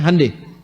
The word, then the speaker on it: Hyundai: Honda mereka bikin Hai Hyundai itu dibacanya Handai ya jadi Selalu Begitu